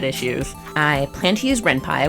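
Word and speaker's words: Ren'Py: I plan to use Ren Pai which I do know how to say now P is for python things change in a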